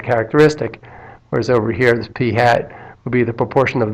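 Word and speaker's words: p̂: be written with a p hat so this is pronounced P hat because it's got a little hat on top of the P these would apply in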